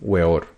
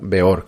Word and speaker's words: Weor: primer apelativo a un weor o beor que creo que es la pronunciación correcta después del éxito del